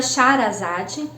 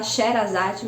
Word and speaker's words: Shahrazad: Tem a Shahrazad. Eu sei que a gente fala Sherazade, mas não é a pronúncia correta. E provavelmente eu também não estou falando a pronúncia muito correta.